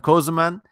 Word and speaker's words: Kösemen: it sounds like that thing that's just how it's spelled cm cozuman and I'm on patreon YouTube and my website